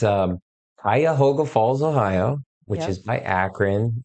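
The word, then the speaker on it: Cuyahoga Falls: a town if anybody pronunciate pronounce it pronunciate pronounce it it's um Kaya hoga Falls Ohio which is by akan it's north of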